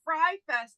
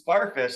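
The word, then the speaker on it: Fyre Fest: Are you aware and do you care that Fry Fest is happening again and it's sold out?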